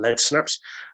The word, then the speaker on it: LED Snaps: uh but it's spelled led snaps but it's pronounced on lead snaps um we are a lighting company that's been